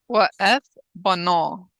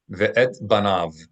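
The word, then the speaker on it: וְאֶת בָּנָיו: In modern Hebrew, having adopted the Ashkenazi pronunciation of consonants, except for the Sav, ve'et banav. In Ashkenazim, ve'es banav. All right, wa'eth bano in proper classical Hebrew, wa'eth bano.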